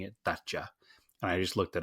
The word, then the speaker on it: Dacia: sand Riders they were they were pronouncing it thata and I just looked it up and it says the pronunciation is daa oh okay basically d the announc saying Dacia they could have also been wrong but again